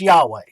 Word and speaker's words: Yahweh: hebrew language so jehovah no ya hova it's a y whether it be jaw it's not yahweh it's yahweh it's not jehuaa it's